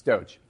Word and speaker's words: Doge: how you pronounce it douche dog oh do it's Doge oh excuse me do